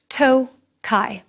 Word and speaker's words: Tokaj: It's pronounced Tokaj, not Tokaji. These beautiful wines are from the region of Tokaj, with no I at the end, but pronounced in the same way.